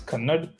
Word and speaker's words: Kannada: And I think the way that is pronounced, even though it might sound like Canada, is Kannada.